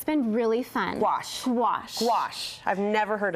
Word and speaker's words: gouache: Yes, gouache is a really big trend, and it's been really fun. Gouache.